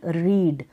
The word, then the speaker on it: read: Spelling same है, pronunciation रेड है RED, और स्पेलिंग यही लिखनी है READ।